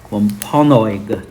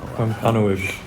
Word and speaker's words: Wampanoag: They needed more space, and so they kept moving further west and further into Native American lands until the Wampanoag tribe decided to fight back.